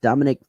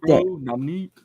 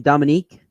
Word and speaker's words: Dominique: and former NFL player Dominic Foxworth said this week Dominique oh Dominique that's the name Dominique yep oh sorry bro that's racist of me right to say Dominic I just how to